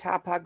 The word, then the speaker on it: Hauppauge: It's pronounced Hauppauge, New York. I was going to say, is Hauppauge really any easier than Bemidji?